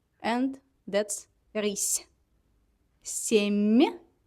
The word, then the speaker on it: семья: Семья. The same idea. We pronounce m, m instead of m, m, m, m. The same position of my tone in the mouth. Семья, not семья.